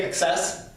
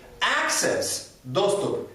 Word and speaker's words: access: the way ukrainian iit supporters quite often say excess that's not right that's bad pronunciation actually xs is a totally different word in english language access access all right so i cannot access your